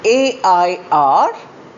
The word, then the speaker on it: air: A-I-R and H-E-I-R. Both are pronounced as air.